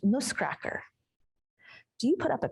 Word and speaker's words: Nussknacker: In German, Nutcracker is pronounced ‘Nussknacker’.